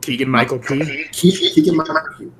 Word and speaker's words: Keegan-Michael Key: what's his fall like I always get his name wrong keegan-michael key that's correct okay okay there's on my end